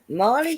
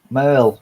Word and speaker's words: Merle: City Blue City Blue City Blue and that's spelled with a c not a sh are you sure well uh Marley Haggard Conway Twitty I guess they're a country singers Merle Merle Hackett Merle okay yeah the bottle the